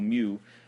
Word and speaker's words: mu: It's pronounced mu, like M-E-W.